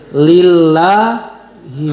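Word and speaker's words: لله: Lillahi ma fisamawati wa fil ard. Lillah lafal Allah tapi sebelumnya berharakat kasrah. Maka harus dibaca tipis. Jangan lillah tapi lillah.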